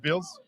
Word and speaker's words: BILS: I like to say the B is silent, so it's BILS.